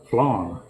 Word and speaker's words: flan: And I say it's the same as Southern for flying. Because there's a specific type of motorcycle crash, which I have, of course, done a number of times, and on a bicycle too. It's called a flying W. But if you're saying it the way I would say it, it's flan W.